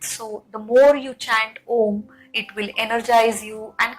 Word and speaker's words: om: chanting we can understand there are three syllable a u m so a can be felt in the abdomen U can be felt in the heart and mo can be felt in your throat and your head and the sadhan crown